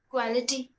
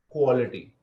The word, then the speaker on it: quality: Quality. Yeah. So it's KWO. The pronunciation is KWO. Quality. Yeah. So you're saying qua. The A is not there.